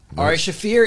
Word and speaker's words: Ari Shaffir: haven't thank you hey welcome to the show AR shafir is here killed it with the pronunciation dude well I did ask you nailed